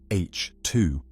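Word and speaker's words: H II: These regions, known as H2 regions, pronounced H2, mark the nurseries where stars have just formed.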